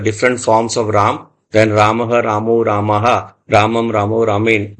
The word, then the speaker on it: Rama: Because a lot of people in Hindi, in English, they write Rama, M-A, then it becomes confusing how to pronounce that. So if it is with the full ma, it is Rama, not Rama.